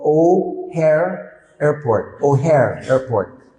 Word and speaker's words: O'Hare: The name of the airport in Chicago is called O'Hare Airport.